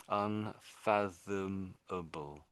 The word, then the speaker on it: unfathomable: We spell it as able, but when when it's when it's part of another word, we don't really say able on the end of it. It's not doesn't really come out as able.